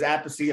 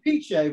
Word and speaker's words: Appice: know that whole thing because Appice, Appice.